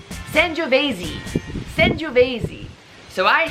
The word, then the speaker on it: Sangiovese: So, Sangiovese. Sangiovese. And go try one tonight. Really work on that pronunciation.